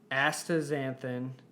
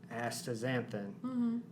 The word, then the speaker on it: astaxanthin: of crossing all sorts of future podcast boundaries astaxanthin is a carotenoid that also acts as sunscreen